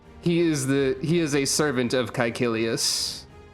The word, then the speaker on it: Caecilius: or like two, that has a hard K sound is Caecilius. That would be an example of a name using the K sound.